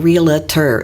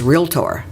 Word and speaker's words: realtor: being a realtor and it's not realtor it's real tour and I wish people would learn how to pronounce it I have one